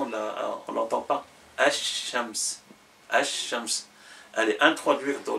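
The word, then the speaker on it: الشمس: arabe, Shams, quand il est défini, on dit Ash-Shams. Ash-Shams, la lettre, dans la prononciation, on ne l'entend pas. Ash-Shams.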